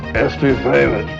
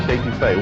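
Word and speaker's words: étouffée: I want some estouffee, crawdads. What Bubba's trying to say is crawfish etouffee, one of our most popular Cajun dishes.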